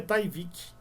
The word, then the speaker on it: Tyvek: Escreve Tyvek, mas lá a pronúncia é Tyvek, tá?